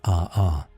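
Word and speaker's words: ʻaʻā: In stark contrast to the smooth ropey surface of pahoy hoy is the form of lava known as aa. This Hawaiian term pronounced a r perfectly captures the experience one might have trying to walk across its surface barefoot.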